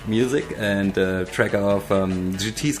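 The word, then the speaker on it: Geetee: It's called GT, spelled like G-E-E-T-E-E.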